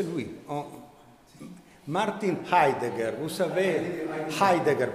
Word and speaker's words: Heidegger: Martin Heidegger, vous savez, Heidegger, pardon, nous Italiens, on ne prononce jamais le H et comme résultat, on ne nous entend jamais, ce n'est pas un désavantage.